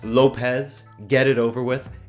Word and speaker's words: Lopes: safe out of Lopes go ahead someone in the chat to say that it's pronounced Lopes get it over with